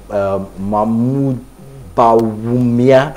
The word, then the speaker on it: Mahmoud Bawumia: So the vice president of Ghana, Mahmoud Bawumia, I think that's the pronunciation.